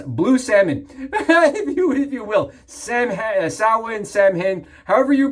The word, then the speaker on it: Samhain: Samhain, however you pronounce it, wherever you're from, right? It's actually Samhain. We can be honest, it's Samhain, right?